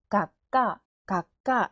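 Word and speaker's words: がっこう: 한 글자씩 읽으면 가, 윽, 카, 가까.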